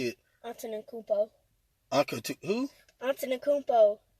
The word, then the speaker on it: Antetokounmpo: Antetokounmpo. Who? Antetokounmpo. Antetokounmpo.